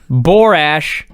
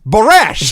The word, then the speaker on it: Borash: this point I thought have I been saying his name wrong for 20 years right because they're saying look it's barash yeah barash barash barash is here Brash Jeremy Brash it's